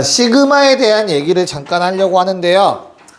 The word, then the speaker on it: 시그마: 시그마는 아예 처음 듣는 친구들도 있고 들어본 친구들도 있고 얘가 뭐죠? 뭐라고 읽는다고? 시그마 시그마 스펠링 S I G M 어 그래 좋아요. 그래도 한번 했다고 짜시 시그마라고 읽고요.